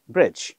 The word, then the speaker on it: bridge: বিআর আইডিজিই, ব্রিজ। হ্যাঁ, ডিজি দেখেন, তাহলে ডি এর উচ্চারণ হবে না।